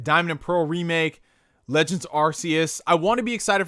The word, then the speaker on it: Arceus: I always pronounced it Arceus growing up until I heard them say it. It's Arceus.